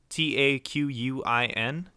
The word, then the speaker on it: Taquin: Taquin. Nice to meet you. It's literally just pronounced like the word talk and win combined.